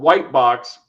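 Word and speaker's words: Wightbox: And he's and he's even like he's made an OSR product called Whitebox spelled like the monster. W I G HT, right?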